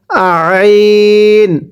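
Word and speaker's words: عين: কিভাবে পড়ব? আইন। আপনার গলার মধ্যে চাপ দিয়ে পড়তে হবে।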